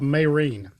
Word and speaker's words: Mesrine: It's called Mayrene. And I'll go ahead and spell it for you to look it up. It's Mesrine. Again, it's a biographical telling